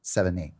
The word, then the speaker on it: Sevigny: But I think it's the number 7 and knee. Sevigny.